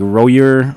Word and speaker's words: Roger: It's his name is spelled Roger Gracie, but it's like Royer. I think they call him. Yeah, it's Brazilian, right? Yeah. Oh, Roger.